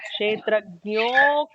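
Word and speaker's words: क्षेत्रज्ञोऽक्षर: But when we combine those together, because of how Visarga changes, as I was saying, changes the succeeding letter, in this case, it actually becomes Kshetrajnokshara Evacha. There is an elongated no just Yeah. to compensate for the missing Akshara or A.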